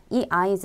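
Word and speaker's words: 合図: 이 한자 의 경우 발음 에 주의 해야 합니다 . 첫 번째 한자는 " 결합 하다 " 라는 뜻 으로 , 훈독 으로 읽습니다 . 두 번째 한자는 " 그림 / 형상 " 을 의미 하며 음독인 " 즈 (zu)" 로 읽습니다 . 그래서 " 아이즈 " 라고 읽는데 , 제 가 한국어로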